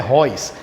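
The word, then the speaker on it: Reus: atacante do borussia dortmund é escrito réus mas a pronúncia royce então a pronúncia correta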